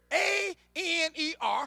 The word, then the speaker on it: aner: This term husband comes from a Greek word, A-N-E-R, is pronounced aner.